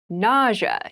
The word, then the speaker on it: nausea: a very interesting word with an interesting spelling NAA is the pronunciation NAA refers to a medical condition a